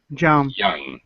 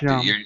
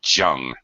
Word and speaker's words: young: Young. Yeah. Thank you, John. Well, Young. you've got a little too much J there. It sounds like you're saying jung.